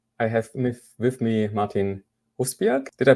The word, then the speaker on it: Rusbjerg: I used to live in England, so I took away the J because it got too complicated. I call myself Rusbjerg when I'm Okay.